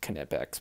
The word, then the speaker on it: Knipex: division of night pecks I know it's kinetics but that sounds funny and it's more syllables syllables so I'm just gonna say nip ex nip ex Orbis very